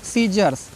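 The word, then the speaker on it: scissors: इसको पढ़ना है मसल्स फिर सीजर्स एस सी सी आया है ना साइलेंट है फिर सीन एस सी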